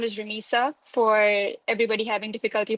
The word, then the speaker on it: Rameesa: My name is Ramisa, for everybody having difficulty pronouncing my name.